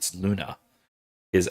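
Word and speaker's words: lunae: Luna is that's at least the um the nominative Lunai, which is how you'd pronounce that.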